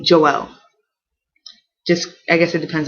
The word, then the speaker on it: Joel: It can be Joel, like Joe with an L, Joel. Or some people say Joel.